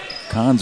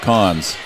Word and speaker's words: Cons: They told me to pronounce it either way. Cons or Coons, but really, she said to go with Cons, so that's what I'm going with. She said my dad pronounces it different.